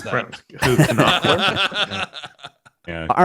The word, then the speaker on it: Knopfler: Knopfler.